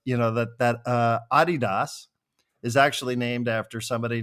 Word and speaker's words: Adidas: And then I said, I I recently learned that Adidas is actually not pronounced Adidas. This is a German company and it is pronounced it is supposed to be pronounced Adidas.